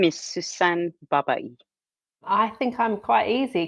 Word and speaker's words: Sussan Babaie: could you each please pronounce your names correctly for me? My name is Niamh Coghlan. My name is Sussan Babaie.